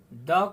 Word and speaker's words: the: वहीं द को weak form में द का उच्चारण किया जाता है और स्ट्रॉन्ग फॉर्म में दी का उच्चारण किया जाता है।